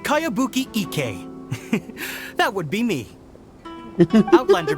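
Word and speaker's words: Kayabuki Ikuya: By Kawabunga Iki. Yoimiya, this is a really strange name. Who's this Kawabunga? It's pronounced Kayabuki Ike.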